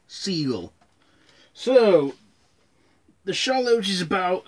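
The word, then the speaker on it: Seagal: bruce from jaws and stephen c gull not sea gal siegel so the shallows is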